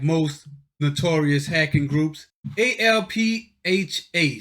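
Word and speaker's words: ALPHV: most notorious hacking groups a-l-p-h-a so it's it's Alpha spelled with a V at the end because the V is upside down a slash black cat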